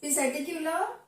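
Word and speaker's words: Psittacula: Parrot पी silent बोल सकते हो यहाँ पे, पी सेटिक्यूला। पी साइलेंट भी बोल सकते हो, सिटिक्यूला।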